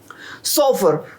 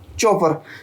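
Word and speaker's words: chauffeur: दोस्तों यहाँ पर सी लिखा है लेकिन इसको आप SHO सोफर पढ़िएगा। ठीक है, यहाँ पर जो है सी का साउंड एस से आता है, तो the right pronunciation is सोफर, नॉट चौफर, ठीक है।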